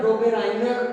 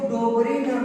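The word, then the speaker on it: Döbereiner: तो सबसे पहले बेटा डोबेराइनर का त्रिक नियम आता है इसमें, डोबेराइनर का त्रिक नियम। कुछ बुकों ने इसको डोबरीनर बोला है बेटा, डोबरीनर, राई को ई बोल दिया, हिंदी उच्चारण इंग्लिश से।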